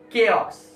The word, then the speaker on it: chaos: It's not chai, it's chaos. The spelling is CHOAS. Just because of CHA, people say chaos. But the correct pronunciation is chaos.